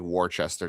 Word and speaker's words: Worcester: It still looks like Worcester to me, but I know it's pronounced Worcester.